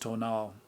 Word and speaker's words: tonal: of central mexico i knew that the tonal pronounced tonal was thought to be a kind of guardian